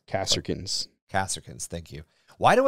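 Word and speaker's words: Kasrkins: Yeah, they kind of look a little bit more like Carcassons? Kasserkins. Kasserkins, thank you. Why do I keep thinking, because Kossark. Because you mispronounce everything.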